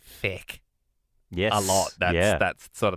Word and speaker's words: Feck: It's spelled Feck. Whoa! Feck. Feck.